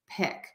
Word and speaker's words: pick: Peak pick Peak pick when in doubt for this long e just make it longer really go for it really make that sound a little bit longer and then try to make the short eye a little bit shorter and quicker think about it that